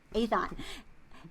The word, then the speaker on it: Aethon: survival following the disaster on board the ill-fated Aethon, how do you pronounce that? Aethon, which is a manned solar research probe sent to explore temporal distortions around the sun.